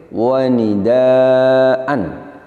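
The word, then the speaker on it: وَنِدَاءً: Perhatikan pada lafaz yang terakhir wa nidaan. Saat wakaf kita baca wa nidaa.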